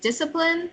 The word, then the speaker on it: discipline: I say that you had more trouble with discipline, so can Yep. you say that again? Discipline. Discipline. Discipline. Discipline. Discipline. Discipline. Discipline. discipline, The accent is on the first syllable.